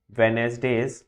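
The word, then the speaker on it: Wednesday: 94, we have to hand today under last वेनेसडेज, D silent होता है इसका ना, डेट another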